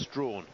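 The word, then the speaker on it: Strachan: there in seven and the lineup completed with Strawn of Bahamas it's spelled Sten but pronounced Strawn the Bahamian in Lane eight taking a little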